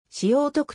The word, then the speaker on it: 聖徳: 関係であるまた東京聖徳学園は聖徳を聖徳と読むのに対し本法人はしょうとくと読む聖徳学園中学校